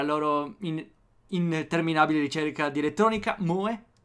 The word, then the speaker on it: moe: Pronunciata Moe.